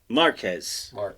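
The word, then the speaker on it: Márquez: Marquez. Yes. Marquez. No, I know it's almost impossible to not say it. It's like Tijuana. Marquez. Come on. It's Tijuana and Marquez.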